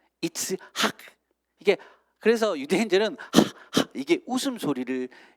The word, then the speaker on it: 이츠하크: 히브리어로 정확하게 발음하면요 이스하크라는 거거든요. 재밌는 것은 여러분, 아브라함이 아브라함으로 바뀌면서 그 이름에 그 이런 발음이 들어갔죠. 사라도요 사레에서 사라로 바뀌면서 사라 이렇게 발음되거든요. 이츠하크.